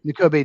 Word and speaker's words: Nakobe: Nakobe Dean, I think Nakobe is how you say his first right? N'Kobe Dean, yeah.